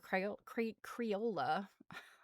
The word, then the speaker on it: Creola: And the blurb talked about how she made a necktie quilt for her sister, Creola. I know it sounds like I'm saying Crayola. That's not how her name is spelled. It's Creola.